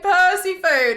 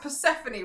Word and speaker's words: Persephone: And there was like a month of streams where I was saying Persephone, and eventually someone was like, you know, it's pronounced Persephone, right?